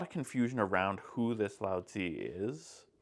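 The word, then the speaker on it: Laozi: Century BCE yeah the the old writing system would have you say his name as Lau okay um we've abandoned that and we're now going with loudy all right um yay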